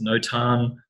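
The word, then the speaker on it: notan: mastering black and white no tan I think some people pronounce it no time I think the Americans do but basically it just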